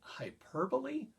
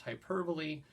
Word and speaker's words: hyperbole: is some and by the way George we pronounce it hyperbole I know it's spelled hyperbole but it's a weird word pronounced hyperbole and that just means something that's an exaggeration